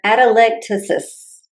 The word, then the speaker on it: atelectasis: I had, and let me see if I can say this right, atelectasis.